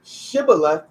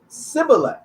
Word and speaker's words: shibboleth: different they would say shibboleth and the other tribe they would say sybil and that's how they